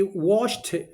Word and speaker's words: washed: was not hurt he washed washed because of CH because of CH here we have added e d and we pronounce it like T okay we pronounce it